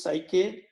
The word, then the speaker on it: psyche: That word is used, psyche or suke, the way it pronounced, and that speaks about the mind, emotion, and will.